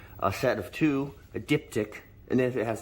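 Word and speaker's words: diptych: the same so now this is a dip tick now that's the correct pronunciation for a set of two a dip tick and then if it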